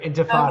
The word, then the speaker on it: Intifada: I never could pronounce that. You're doing great. Intifada Okay.